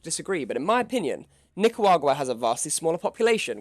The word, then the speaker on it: Nicaragua: up on this list in seventh place is nicoagra nickwagra guac what i think nick waguar sorry my pronunciation is terrible now nicaragua you can ask isn't this worse than uruguay